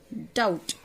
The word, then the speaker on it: doubt: Doubt. We don't pronounce B in this word doubt. We here the letter B is silent. B is silent. We pronounce it doubt. The B is silent in this word.